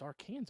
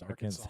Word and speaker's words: Arkansas: from Arkansas Arkansas AR it's Aransas is isn't it no no it's Arkansas it's Arkansas it's okay you